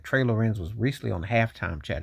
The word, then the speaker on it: Trey Lorenz: Uh I seen um Trey L Trey Lawrence on um Trey Loren. Let me say it correctly. Trey Loren was recently on halftime chat.